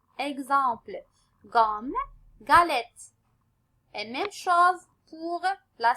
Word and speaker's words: galette: Regardez bien le mot galette, la lettre G devant quoi? Devant A. Donc, dans le cas qu'on trouve la lettre G suivie par A, on va prononcer le mot comme galette.